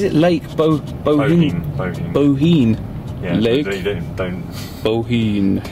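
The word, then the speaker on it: Bohinj: Bohine. Don't pronounce the J.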